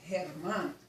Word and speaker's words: Germán: But no, his name was Germán.